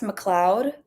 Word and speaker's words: MacLeod: It's pronounced McLeod. Why is it spelled MacLeod?